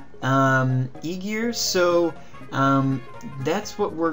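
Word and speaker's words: Ægir: to go with is um I'm told it's pronounced Eigar um Eigar.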